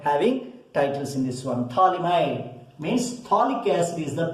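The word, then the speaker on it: phthalimide: Here P is silent, thalamide.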